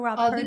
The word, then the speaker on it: Walpurgis: Is it Walpurgis or Walpurgis? The G is actually hard, so it's Walpurgis. Walpurgis.